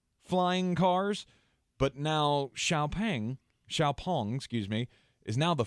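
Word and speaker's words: XPeng: our way because Chinese electric vehicle company uh xiaopong or it looks like x-pang but I looked up the official pronunciation apparently it is xiaopong but uh anyway they this past week unveiled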